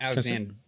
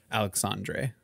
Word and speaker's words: Alexandre: that how you say that's not alexander it's alexander but dre at the end alexandre is that he would